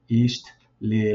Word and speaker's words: Ixtlilxochitl: So the X makes a sh sound in this case. Some people might go ha, but Ixtlilxochitl.